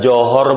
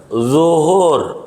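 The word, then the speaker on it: ظهر: Dia tanya, udah johor belum? Johor. Kata dia, masih Singapura. Gitu. Belum nyebrang. Johor. Begitu. Zuhur, zo, bukan jim.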